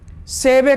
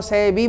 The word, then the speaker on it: Seibei: इस कहानी में भी एक जापानी लड़का सेबे का वर्णन क्या है, SEIBEI, सेबे। इसी को बहुत लोग सेबी बोलते हैं। एक बल EIA हो गया है, एक बल बी, कैसे सेबे सही उच्चारण है।